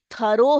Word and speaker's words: thorough: Some of you pronounce this as through. THROUGH. ये thorough है.